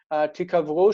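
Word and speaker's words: תִּקָּבְרוּ: Tikavro should have a meteg here by the kamatz to indicate that it's long. It's not a closed syllable.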